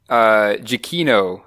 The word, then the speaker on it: Giacchino: Pronounced, I think, Giacchino.